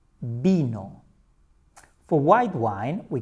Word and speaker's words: vino: In Spanish, the V is pronounced the same as B.